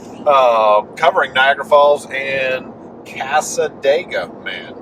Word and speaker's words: Cassadaga: and casa dega man make sure we pronounce that properly and that is how you pronounce it we we asked we have confirmed with the locals kind of like talladega cassadaga the indigenous peoples uh gave